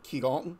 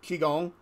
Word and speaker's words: Qigong: lot of Reiki Masters who have also studied kigalton sorry Qigong I am working on that as pronunciation thing that's one of my things I'm